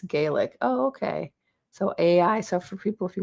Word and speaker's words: Aigi: person said their their name that I was mispronouncing their name is Aigi. It's Gaelic. Oh, okay. So, Aigi. So, for people if you want to talk to this person, it's Aigi. A I G I is Aigi.